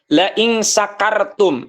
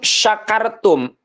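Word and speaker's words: شكرتم: gitu ya syadid katanya laakum ya laakartum Nah itu harusnya kan La syakartum harusnya menggunakan syin besarin besar itu yang ada titiknya tuhin beda antara huruf Sinin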